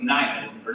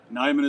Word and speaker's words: Neiman: and awards committee member Neiman rather. Nyman is correct. Neiman, there we go, perfect.